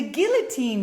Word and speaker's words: guillotine: The guillotine, guys, is a choke, okay? Let's practice one more time the pronunciation. Guillotine, okay? Look at this L. Guillotine. Great, okay?